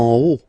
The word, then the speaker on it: haut: En haut. En haut. Okay, final T not pronounced, and then this H as previously, you don't pronounce it, so this is haut.